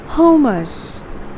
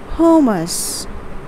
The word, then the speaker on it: hummus: spread or a dip that is known as hummus hummus the next one okay this is a very